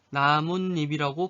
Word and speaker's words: 나뭇잎: 자, 나무잎도 마찬가지야. 나무잎이라고 안 하고 어떻게? 나뭇잎이라고 발음하잖아. 그래서 이럴 때는 시옷을 표기한다. 사이시옷을 표기한다.